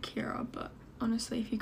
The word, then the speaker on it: Ciara: you pronounce your name it's spelled Kiara but you pronounce it Kiara but honestly if you